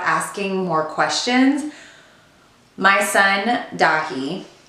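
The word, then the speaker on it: Daithí: My son, Dahi, spelled D-A-I-T-H-I with a fada over it.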